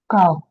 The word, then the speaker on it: calf: In this words, the L is silent. It's starting coming. Calf, Okay.